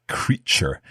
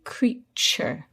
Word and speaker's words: creature: pronounced t as in it's pronounced cha like in cheese so we say creature can you give us